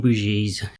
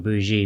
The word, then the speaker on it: Bougie: pronounce robin's name and in newer interviews he's referred to as robin bougie but there's an old clip from 93 which is a newscaster doing the pronunciation we all know how much they actually care but he pronounces it boujee so i'm not quite sure i do believe it's robin bushy so that out of